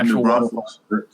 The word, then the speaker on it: New Braunfels: Is that how you pronounce that? Is it? Okay. Water park. Yeah, New Braunfels.